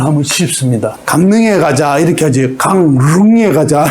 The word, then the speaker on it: 강릉: 이응하고 리을이 부딪혔어요. 이응하고 리을이 꽝 부딪혔어요. 발음이 어렵죠. 그래서 쉽게 어떻게 해요? 마음을 다해서 그 마음을 내게 줘. 뒤에 리을만 바뀌면 됩니다. 마음은 바뀌면 안 되죠. 앞에 게, 그죠? 바뀌면 안 되고, 뒤에 것만 내게 줘. 니은으로 강릉. 이렇게 발음을 하면 쉽습니다.